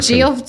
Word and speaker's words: Geoff: Yeah, so, I know, but it's spelled Geoff. It's like the French version of Jeff.